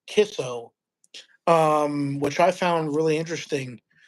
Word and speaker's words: Kicco: It's spelled Kicco, but it's pronounced Kisso, which I found really interesting.